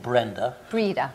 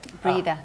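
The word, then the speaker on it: Breda: You played Brenda. Brida. Brida, that's how you pronounce it, yeah.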